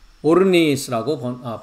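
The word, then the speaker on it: ὄρνις: 3,733번인데 발음은 오르니스라고 발음을 합니다.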